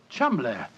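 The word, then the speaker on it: Cholmondeley: reason to know that the name Chumley is in no way pronounced the way it is spelt. Oh, Joe, I never thought of that. Chumley. That name's spelt C-H-O-L, Chol, M-O-N, Mon, D-E-D, L-E-Y.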